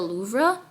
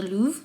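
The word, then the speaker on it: Louvre: But I literally had to skip on going and um exploring the Loura the Louv museum is the right way to pronounce it to take this interview.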